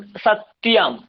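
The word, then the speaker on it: सत्यम्: ম আছে, যেখানে যেখানে অনুস্বার আছে আমরা অনুস্বার উচ্চারণ করবো না, আমরা ম উচ্চারণ করবো। যেমন সত্যম, ত য়, সত্যম। আপনারা বলছেন সত্যম সত্যম, সত্যম বাংলায় ঠিক আছে, সংস্কৃতে কি বলতে হবে? সত্যম, সত্যম।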